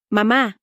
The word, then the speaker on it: mamá: Mamá, mam emphasizes the second syllable, mamá.